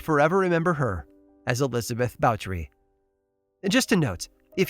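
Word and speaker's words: Báthory: remember her as elizabeth bautry and just a note if you've ever read about elizabeth you might have assumed her surname spelled b-a-t-h-o-r-y is pronounced bathory but the proper correct pronunciation is bowtery still it's not because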